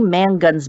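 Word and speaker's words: Mongan: also say get Marie mangan's book on hypnosis or hypn birthing yeah um it's Marie Mangan I'm sorry I mispronounced her name it's m o n g an again I know with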